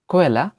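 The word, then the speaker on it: Quelle: এরপর রয়েছে কু উ, কু উ, যার উচ্চারণ হয় কো এর মতো, কে ও বা কো এর মতো। এর উদাহরণ হচ্ছে কোয়েলা, কোয়েলা, ইংরেজিতে সোর্স এবং বাংলা হচ্ছে সূত্র বা উৎস।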